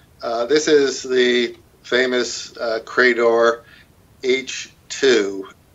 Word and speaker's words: Eichi: So this is the famous Credor H2. EICHI, pronounced H, 2, like Roman numeral 2.